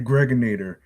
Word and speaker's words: Gregonator: Yo, aka aka the Gregonator. Rhymes with Narrator.